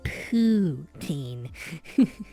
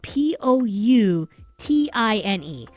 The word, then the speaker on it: poutine: word ptin h like why would you name your name your dish potin it's not spelled that way okay so so poutin not spelled like that well you got the second half spelled right it's poo as in p o u t i n e and um poutine is